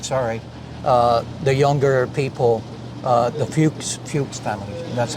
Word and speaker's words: Fuchs: So for those of you, I'm sorry, the younger people, the Fuchs family, that's how you pronounce it, right?